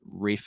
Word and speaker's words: Ralph: spider it's ra uh I think you say his name is Rafe I think it's how you pronounce it Rafe fines is in that